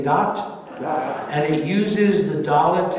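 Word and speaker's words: דעת: dalit and the tav the hebrew word for religion is pronounced dot d-a-t everybody say dot and it uses the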